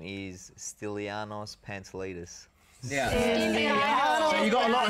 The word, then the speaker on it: Pantelidis: your full name I it's quite confusing to pronounce right it is it is my full name is is sanos pants latus so you got a lot of Steel when